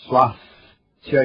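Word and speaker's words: SwáSthya: Iniciemos a nossa prática de Swastika Yoga. Não só quando escreve, mas também quando você pronuncia, use o S maiúsculo, exagere na pronúncia desse S.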